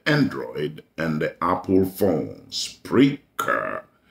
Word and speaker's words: Spreaker: Spreaker is spelled as it is pronounced, S-P-R-E-A-K-E-R.